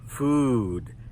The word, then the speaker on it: food: When we make this sound our mouth is tense. "Oo" Our lips are a little tight. It's like when we smell something, something bad. "Oo" And notice it's long, and it goes up and then back down.